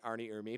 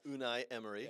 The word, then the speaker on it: Unai Emery: gonna butcher the name unai Emery I was gonna say Arnie Irma but go ahead unai Emery okay Ernie Ernie Ernie